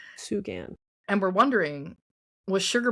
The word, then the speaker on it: Sugan: There's a road by New Hope called Sugan Road. S U G- I think that's the pronunciation. Sugan.